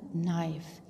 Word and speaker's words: knife: Then knife. K-N-I-F-E, knife. और ख्याल रहे बॉयज़, इसमें K जो है दैट इज़ साइलेंट, इसको हमने प्रोनाउंस नहीं करना. K is silent here.